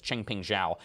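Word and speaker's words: Changpeng Zhao: entire cryptocurrency space and knows how to say his name is ching ping zhao cz over a binance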